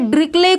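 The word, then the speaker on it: Dirichlet: बात करें डिरिचलेट test, तो यहाँ पे जो आपका प्रोनाउंसिएशन है वो क्या है? ड्रिकले। कुछ लोग यहाँ पे सम ऑथर्स इसको ड्रिकले बोलते हैं, बट जो हमारी हैबिट है वो ड्रिचलेट है, तो इसलिए हम इसको ड्रिचलेट बोलते हैं।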